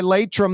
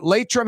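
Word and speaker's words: Laitram: That segment's always brought to you by Latrim, the global manufacturing giant that's hiring right now.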